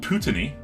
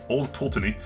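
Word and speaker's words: Old Pulteney: uh this is old putini pultani sorry old pultany i believe is how it's pronounced i'm not scottish so i don't know the inflections perfectly but uh it's a it's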